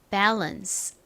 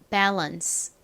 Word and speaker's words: balance: 의미이죠 균형이라는 의미이죠 균형 한국식으로는 밸런스라고 많이 읽는데 실제 영어 발음은 처음는 a 소리가 나고 그다음는 어와 비슷한 소리가 나서 bance bance 요렇게 읽죠 bance 마지막 요것은 무슨 의미였죠